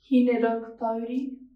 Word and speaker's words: Hineraukatauri: Hineraukatauri. Sorry, could you say that again? Hineraukatauri.